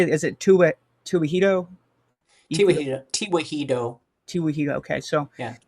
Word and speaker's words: Tewahedo: So, I say Tewahedo, and they seem to think that that's normal. That's the right Yeah. pronunciation.